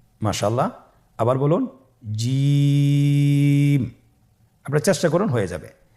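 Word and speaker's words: ج: জিম হারফটি বারিক হরফ এটা উচ্চারণ করতে হবে তিন আলিফ টেনে দেখুন আমি কিভাবে উচ্চারণ করছি আপনারা আমার সাথে করুন জিম মাশআাল্লাহ আবার বলুন জিম আপনারা চেষ্টা করুন হয়ে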